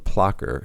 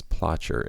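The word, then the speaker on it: Plocher: Pearl was bred by Tom plocker who I mispronounce as pler in this interview and he's going to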